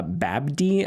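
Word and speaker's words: Babbdi: Uh Babdy, I think it's pronounced Bab.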